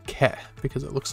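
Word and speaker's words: け: And then finally, we have the rounded side column, or kana, that's pronounced ke, because it looks like a keg.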